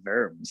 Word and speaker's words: Worms: uh the diet of verbs uh you have to say verbs if you're really going to show off so it's spelled worms but they don't do that in german right yeah i guess they